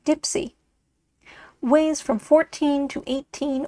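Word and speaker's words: deep-sea lead: 30 fathoms in length the Deep Sea lead pronounced Dipsy weighs from 14 to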